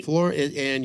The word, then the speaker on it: Florian: my couch right now Florin is that the correct pronunciation of your name is it correct yeah it is it is actually floor and your last name is